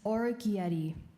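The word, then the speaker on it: orecchiette: Your word is orchieti.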